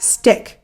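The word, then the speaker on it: StickK: can always check out stick which is spelled with two K's s-t-i-c-k-k we've talked about this program on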